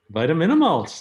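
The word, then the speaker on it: Vitaminamulch: a short film that I always have trouble pronouncing, Vitaminimulch. Vitaminimulch, Air Spectacular, that's right.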